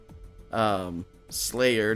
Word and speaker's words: Sleigh'r: Sleigh'r, not spelled like the band, is like the Santa sleigh. SLEIGH apostrophe R.